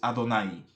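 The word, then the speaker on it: Adonai: Quién eres Señor la la pronunciación aquí dentro de los textos originales sería Quién eres adón quién eres adonay quién eres mi señor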